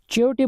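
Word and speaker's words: chayote: बट लेट me tell you, आप pronunciation थोड़ा सा प्रॉब्लम हो सकता है। इसको चियोटे बोलते हैं इंग्लिश में।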